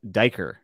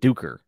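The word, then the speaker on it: Duiker: and he also pronounces uh the author he pronounces duker uh like diker and it's and i've heard erickson pronounce it duker yeah i say duecker because he's a you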